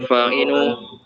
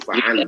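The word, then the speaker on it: فعن: Wa kana sallallahu alaihi wasallam yulataful atfalu wa yudaibahum fa'inu Abi Hurairah radhiyallahu anhu qala kana Rasulullah sallallahu alaihi wasallam bacanya itu fa'an bukan fa'inu.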